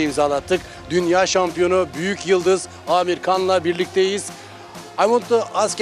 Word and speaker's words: Amir Khan: For example, is good pronunciation Amir Khan or Amir Han? Amir Khan. Amir Khan, yes. Yes, you yes, you're right. Yes, you did correct.